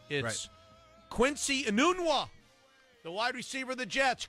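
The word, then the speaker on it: Enunwa: the name that I that I need to pronounce right it is Quincy a noon walk the wide receiver the Jets Christian out for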